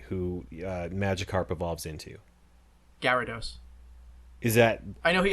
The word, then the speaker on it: Gyarados: i think i had friends who said like gyrados or some i never heard anyone say gyrados we watched the anime they always pronounced it gyarados without the wall there was a lot of